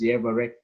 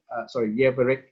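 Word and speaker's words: יברך: So the pronunciation is Yevarek, Yevarek, okay, without the ka here, Yevarek. Okay, so this is what we call the PL imperfect verb.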